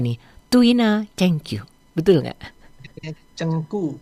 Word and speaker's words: Zheng Gu: Cengku. Oh bukan ceng tapi ceng. G itu dibacanya ku, K. Jadi bukan ceng tapi cengku ya.